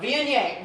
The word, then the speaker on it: Viognier: She went to the store to buy one, and they kept saying Vouv, Vouv, and she goes, no, Viognier, Viognier.